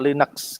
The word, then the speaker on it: Linux: Linux seperti itu Nah Linux itu biasanya diucapkan dengan linex itu Ya sebuah komputer